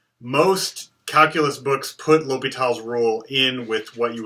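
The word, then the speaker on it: L'Hôpital: called l'hopital's rule okay this is not pronounced l'hospital's rule so please don't say l'hospital its l'hopital it's actually French it's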